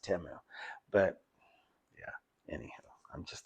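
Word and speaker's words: Temu: to the side and fishey it, it says Timu or AliExpress. And yes, I know it's supposed to be pronounced Teu, but yeah.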